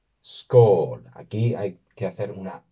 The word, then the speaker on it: skál: La palabra que nos concierne en este vídeo es no otra que scall. Sch es una forma de hacer brindis en nórdico antiguo y se pronunciaría de esta manera. Sch. Sch.